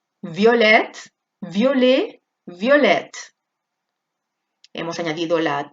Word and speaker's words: violette: Aquí acaba en E sin acento, por lo tanto la E no se pronuncia, pero lo de delante sí, ¿vale?